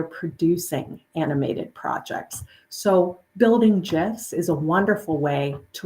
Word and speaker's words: GIF: I do pronounce it gif uh because Stephen willhite the GIF inventor in the 1980s he pronounced it gif with a soft J so out of respect